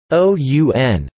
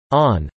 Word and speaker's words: ann: This is due to the Irish word an pronounced o-u-n or on, fulfilling both meanings.